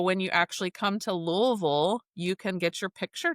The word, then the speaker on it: Louisville: Louisville. I have a chart on the wall behind me of all the different pronunciations of Louisville. But if you're from here, you say Louisville.